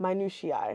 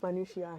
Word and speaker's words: minutiae: Minutushi. Man. No. It's minutia. It's multiple. Shut the Uhuh. Americans say minutia.